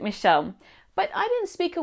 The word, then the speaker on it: Michelle: I was born in Australia and my Italian dad named me after my nonno, Michele. But in Australia, you just pronounce it Michelle.